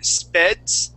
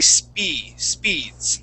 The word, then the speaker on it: speeds: Okay, so instead you had said speds, using more of a short E sound. Okay, we want to say speeds.